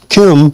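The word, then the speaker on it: Kem: So me pronouncing Kim wouldn't make no distinction pronunciation wise between Kim and Kim.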